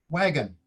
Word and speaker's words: wagon: sounds kind of odd we all know the word is read as wagon so that second vowel the o does not pronounce the short o sound ah as in on it pronoun it's uh spells the sound the schwa sound uh so i need